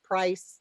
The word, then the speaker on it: Priess: price class or pronounce price like the german price we're very lucky to